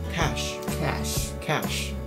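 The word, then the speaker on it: cache: ，所以大家会念成 catch，就是能够理解。但是它的念法呢是跟现金那个字是一模一样的哦，cash。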